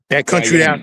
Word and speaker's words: Guyana: to get Yes, into Suriname, and I'm always pronouncing it wrong. It's Ghana or Guyana. Guyana.